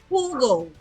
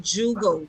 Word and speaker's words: jugo: the letter J right J is pronounced H so Hugo and not Jugo is Juice So once